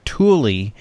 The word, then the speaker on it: Thule: The bike rack company of the same name goes by Thule.